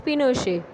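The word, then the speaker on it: Pinochet: Military corp general Augusto पिनोशे, pronounced पिनोशे, and army general lead the corp.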